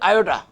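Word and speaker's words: iota: आप देख रहे हैं इसमें एक टर्म आ रही है आयोटा, छोटा आई, यानी कि आई ओ टी ए, आयोटा। इसका अगर करें ना उच्चारण आयोटा, हम आयोटा शब्द लिखेंगे और उस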